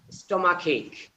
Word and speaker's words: stomachache: It not H, it ache, like headache. Headache, stomachache.